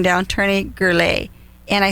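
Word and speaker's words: Gurule: your name down tony gurley and i spelled it g-u-r-l-a-y yeah totally off the mark right and so your last name is spelled g-u-r-u-l-e it's like this energy drink here guru so i could tony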